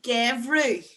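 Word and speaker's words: geimhreadh: Winter is gevru. And that's an MH because of the E that comes next there.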